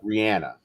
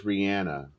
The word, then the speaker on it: Rihanna: Rihanna is how she prefers it to be pronounced. Is it really Rihanna? It is Rihanna.